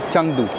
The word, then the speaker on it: Chengdu: अ इसकी जो स्पेलिंग है वो है सी एच ई एन जी डी यू। बट इसका जो प्रोनाउंसिएशन है वो है चंगदू।